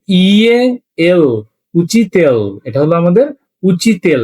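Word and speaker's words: учитель: উচি, উ চে ই, উচি, তে ইয়ে এল, উচিতেল, এটা হলো আমাদের উচিতেল। লাস্ট একটা মিয়াকিজনা, ওই যে সব সাউন্ড, এটার উচ্চারণ কিন্তু আমাদের করার কোনো প্রয়োজন নেই।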